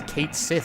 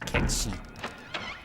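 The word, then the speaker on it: Cait Sith: Can I pronounce Kate? No, it's a Gallic word. It's pronounced Ketchi.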